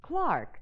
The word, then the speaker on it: clerk: a clock foreign honey in England the word clerk is pronounced Clark thank you lady Astor hey